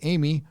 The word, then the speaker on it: Amy: Amy, short for Emiata, and pronounced with a short A, like the French word Amy, is a dutiful child